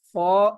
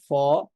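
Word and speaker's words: فاء: কেও আমরা উচ্চারণ করব তাহলে আরবি বর্ণ ফা উচ্চারিত হয় উচ্চারিত হয় উপরের পাটির সামনের যে দুইটা দাঁত আছে সেই দুই দাঁতের ধারালো অংশটা নিচের ঠোঁটের পেটে লাগবে এখানে আমরা চিত্রের দিকে খেয়াল করলে বিষয়টা আরো সহজে বুঝতে পারবে।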